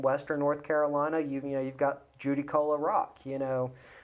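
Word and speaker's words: Judaculla: You've got Judicola Rock. Well, as the Cherokee pronounce it, as Jucola.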